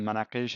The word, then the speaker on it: manakish: shami dialect shami and manakish is the proper Arabic way to say it because the the get we don't pronounce it in in the letine dialect but now let's click